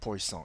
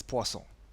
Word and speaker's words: Poisson: this word is not poisson it's poisson it's a french word okay now poisson distribution